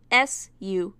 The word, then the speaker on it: Subaru: S-U-B-A-R-U, Subaru, like the car brand. Has Sentai Filmworks never heard of the car brand and how it's pronounced?